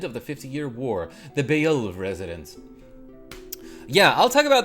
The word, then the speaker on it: Beoulve: It's pronounced Beoulve the sons.